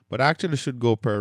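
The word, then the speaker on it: π: And then pi or P, that's fine. Just Just let's Let's just say P um for you math professionals out there, you probably know the pi, but let's say P P.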